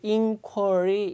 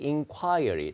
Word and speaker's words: inquiry: 예, 그래서 이 명사는 이제 발음이 두 가지가 돼요. 예, 이렇게 쓰는데요. 이게 inquiry, inquiry 다 됩니다.